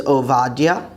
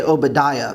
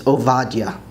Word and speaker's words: עבדיה: Obadiah is Ovadia, Ovadia. Some people like to say Obadiah, but that's really not the way to pronounce it. It's Ovadia, Ovadia.